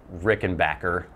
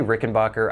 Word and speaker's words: Rickenbacker: back in the day you would see my Rickenbacker I know I say Rickenbacker I know it's technically supposed to be Rickenbacker